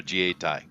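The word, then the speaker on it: 自衛隊: Which is their Jietai is how you say it here, and because the Japanese aren't allowed to have an army because of their little shenanigans.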